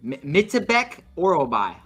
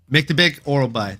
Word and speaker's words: Myktybek Orolbai: Chris, the Action Man Curtis, and can you pronounce this name for me, Pip? I might have this one. Myktybek Orolbai. That was fucking pretty good, bro. Huh? Yeah. Myktybek Orolbai.